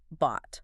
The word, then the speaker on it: bought: So buy must become bought. Bought. It's an irregular verb, which is annoying. B-O-U-G-H-T. It looks like it should be pronounced bow-G-H-T, but it rhymes with caught.